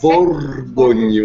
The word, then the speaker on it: Borgognoni: This is the Borgognoni. Oh, now see, don't start with me. I got the GN right, please. Like, I cannot do the rest of those two. So. Borgognoni.